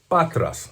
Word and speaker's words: Patras: is a Greek band where was this from patras from Greece is the how it's pronounced it is a Post Punk a little